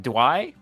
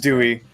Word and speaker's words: Dewey: Dwuy? Dwuy? Dwuy. I think it's Dwuy. I'm gonna say Dwuy. Dwuy sounds. It's Dewey. Is it Dewey? Is it actually Dewey? Dewey.